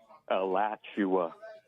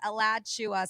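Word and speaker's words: Alachua: Elatchua.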